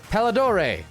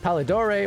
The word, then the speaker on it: Palidore: up for you guys can just call me uh paladore some sometimes people make that mistake it's a uh is it pallidore or they typo it